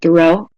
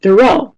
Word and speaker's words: Thoreau: And then encourage them 2 weeks later, 4 weeks later, 6 weeks, remind them, remember, it's not Henry David Thoreau, it's Henry David Thoreau, okay?